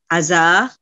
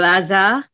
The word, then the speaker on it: hasard: Also, the French word hasard, which is le hasard, we don't pronounce the H and D.